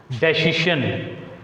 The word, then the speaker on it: decision: Here the word decision begins with the prefix DE. Prefix DE. So whenever a word begins with the prefix DE, degree, delete, define, divide, like this, we put stress on the second syllable.